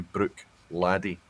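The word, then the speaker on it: Bruichladdich: it's widely accepted and they type it out as such phonetically they'll tell you Brooke laddie phonetically spelled all right well Sarah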